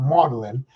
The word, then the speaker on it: Magdalen: i was at was called modeling which is spelled magdalen marlon college was one of